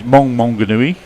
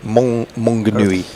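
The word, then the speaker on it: Maunganui: He says it's Monganui. Oh, is it? Yeah. Okay, Monganui.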